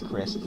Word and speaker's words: Christ.: No, it's Christ, that's how you say it, but it's spelled Christ with a dot at the end.